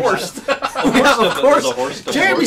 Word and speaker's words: Horst: All the way from Los Angeles, California, spelled like you spell it, horse and add a T. Horst.